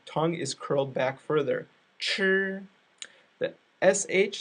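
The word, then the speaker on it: 吃: all right so the the CH sound sounds kind of like a J sound but the tongue is curled back further sure the CH sound sounds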